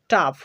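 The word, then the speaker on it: tough: কিন্তু যদি জি এইচ শব্দের শেষে থাকে তাহলে ফয়ের মতো উচ্চারিত হয়। যেমন রাফ, রাফ, টাফ, টাফ, কফ, কফ, এনাফ, লাভ।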